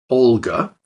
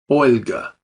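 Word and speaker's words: Ольга: tells Russians is that they need to bring the middle of their tongue up to the roof of their mouth as they pronounce that l so not Olga but Olga Olga let's compare these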